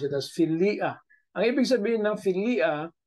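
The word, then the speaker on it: philia: siya binabasa sa Greek So it is pronounced as filia okay filia because Uh the uta and the Alpha there ah Ay hindi po sila diong so separate po ang sounds nila They have their individual sounds the yota and the Alpha separate po kasi hindi po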